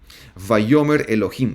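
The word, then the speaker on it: וַיֹּאמֶר אֱלֹהִים: cierto y Dios dijo bayomer Elohim en hebreo bayomer en Elohim así se pronuncia el hebreo que se traduce como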